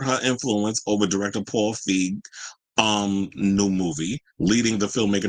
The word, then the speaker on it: Feig: So, because I was like, where's the other thing with the Paul Feig, I think is how you say it, Feig.